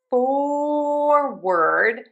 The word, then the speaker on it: forward: For forward we have or in syllable number one for. And then for word, even though it's spelled with that o r, we are just gonna say an because it is unstressed and reduced.